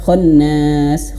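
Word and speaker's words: الخنّاس: Terkadang orang belum tahu nun bertasydid itu bagaimana cara bacanya. Ya, hanya sekedar khannas khannas. Tidak. Tapi di sini dihadirkan warna merah. Kenapa warna merah? Karena supaya memperjelas lagi, lebih nampak lagi kalau di sini dibaca dua harakat ghunah gitu ya.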